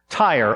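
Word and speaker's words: Tyre: going to detail the fall of tire or tear depending on the pronunciation you prefer t-y-r-e and uh it forms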